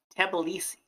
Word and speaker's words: Tbilisi: How do you pronounce the capital? Tbilisi. Tbilisi. Tbilisi.